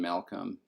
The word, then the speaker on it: Malcolm: No, we do pronounce the first L in Malcolm.